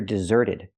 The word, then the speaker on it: deserted: desert to the past I hear deserted the T changes to a fast D because it's between vowels he deserted and he is a desert deserter again the t is between vowels so it's a fast